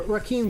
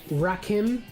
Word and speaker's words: Rakim: uh for the donation rakeem says uh you said my name wrong it's rakhim it's all good though